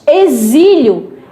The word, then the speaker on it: exílio: A palavra exílio é com X, mas o som, o fonema é Z.